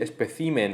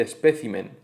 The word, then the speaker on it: espécimen: La confusión en estos casos, lo que nos lleva a equivocarnos y hacer y decir especimen en vez de espécimen o decir regimen en vez de régimen o carácter en vez